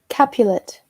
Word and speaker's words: Capulet: Capulet.